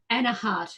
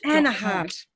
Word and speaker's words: Anaheart: How do you pronounce it, please? Anaheart. Anaheart.